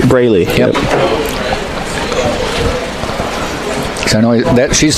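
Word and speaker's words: Breleigh: I'm hoping I'm pronouncing it right. Braley.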